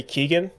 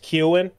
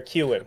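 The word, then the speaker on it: Keoghan: pronounced that way because like you know barry keegan okay barry keegan it's pronounced keown barry kewan oh cute okay it's the same with uh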